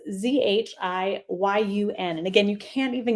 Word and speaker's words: Zhiyun: So again, this is by a company, and I'm not even going to try and pronounce it. No, I will. Zhiyun. It's Zhiyun.